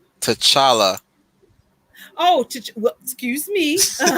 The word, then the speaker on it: T'Challa: gets the name right i've heard takala tashaka nobody in my family says it right and therefore you says